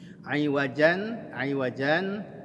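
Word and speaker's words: عوجا: Aiwajan dibaca aiwaja. Ya, iwatnya dimunculkan di situ, dibaca dengan 2 harokat. Ya, aiwaja. Lalu kemudian berhenti suaranya dengan tanpa menarik napas.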